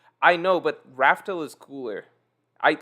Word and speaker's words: Laugh Tale: daniel ramirez cruz thanks for a lot it's pronounced laughter morgan not rafto i know but raftel is cooler i like i know what how